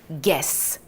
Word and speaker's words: guess: 이번에도 you가 없다라고 생각하고 읽어주시면 편안합니다. 같이 한번 가보도록 할까요? guess, guess, guess.